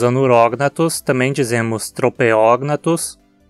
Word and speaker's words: Tropeognathus: dos requisitos para cetônica de novo logo a pronúncia anurognathus e se dizemos a neurotoxina trouxe também dizemos tropeognathus e bata cognatos não se esqueça de que